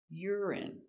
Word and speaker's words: urine: Stress on the first syllable, urine.